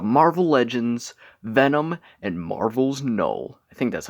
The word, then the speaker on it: Knull: This is the Marvel Legends Venom and Marvel's Knull.